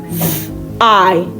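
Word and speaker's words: zwei: So anywhere you come across w just pronounce it as v. So we have t v i t v i together.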